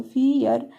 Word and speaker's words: fear: यहाँ पर भी ध्यान दीजिए कि ई के बाद ए आया है ना, एफ से हो गया फ, और ई ए का मतलब हो गया, ई के बाद जब ए आया तो इसका उच्चारण हो गया बड़ी ई, तो फ में बड़ी ई जब जोड़ेंगे तो फी हो गया, बड़ी की मात्रा लगाएंगे तो फियर, फियर, फियर मीन्स डर होता है।